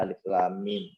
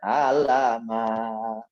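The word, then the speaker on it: الم: Misalnya ada alif lam mim, gitu kan? Ada alif, ada lam, ada mim. Cuma disambung cara baca. Gitu. Tidak dibaca alama.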